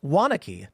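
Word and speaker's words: Waunakee: wants influence flying raptor Jesus says wanaki is pronounced wanaki so many towns in Wisconsin that only locals can pronounce LOL that's right wanaki there you go we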